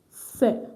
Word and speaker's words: sœur: Not swear. It's sœur. Look at my mouth. Sœur. Sœur. Sœur. Sœur. Sœur. That's all. So I know the pronunciation does not look like the spelling, but it's pronounced sœur.